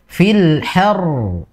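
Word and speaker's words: الحر: Ini juga sama ya, seperti tadi Ummu Alfiana, di huruf ro-nya kurang tekanan ya, Ummu Faiz ya. Jadi fil har. Jadi ada apa ya? Ada pembeda. Bukan pembeda, namun ada istilahnya itu kayak kita ketika mendengar itu langsung tahu bahwasanya itu ro-nya itu double gitu.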